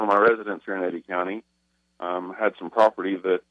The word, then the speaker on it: Eddy County: Sheriff it's from how do you say it Eddie County Edie County yes Eddie Eddie County New Mexico Scott London welcome to Liberty Roundtable